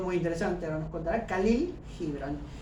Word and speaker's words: Khalil: Acá la KH se pronuncia como una J. El nombre de este autor es Khalil Gibran, ¿no?